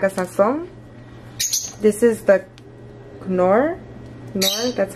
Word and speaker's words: Knorr: This is the knorr, that's how you say it.